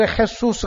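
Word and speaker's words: Jesús: 유대인에게 예수라는 이름이 수두룩하고 스페인 사람들에 가면 그 헤수스 돼요 발음이 지저스가 이제 헤수스 되는데 헤수스는 이름이 막 세고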